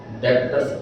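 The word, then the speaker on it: debtors: B silent, डेटर्स ऐसे नहीं बोला है, डेटर्स ऐसे बोला।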